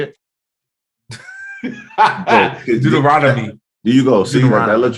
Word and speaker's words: Deuteronomy: person all right anyway what is it called Deuteronomy is that how you say it Deuteronomy there you go I let you know all